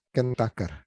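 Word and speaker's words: Kuhn-Tucker: Tulisannya Kuntaker ya, Kuntuker. Bacanya Kuntaker. Kuntaker.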